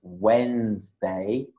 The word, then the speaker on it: Wednesday: right i'm witnessing hey let's repeat that it's only two syllables wednesday on wednesday mr own